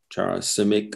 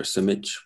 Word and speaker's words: Simic: he was very influenced by American poets, Charles Simic or Simich, whichever you want to pronounce it, was a complete hero, Mark Strand.